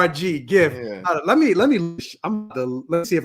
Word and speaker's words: GIF: It's a GIF. No, I don't care. All 42 of y'all that think it's a hard G.